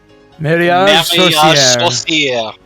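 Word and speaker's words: Marriage Sorcière: Mariage Saucier. Saucier. Mar posted a pronunciation guide and reference. Mary, like Mary had a little lamb. Aj, just think age, but sore. Then ca, rev.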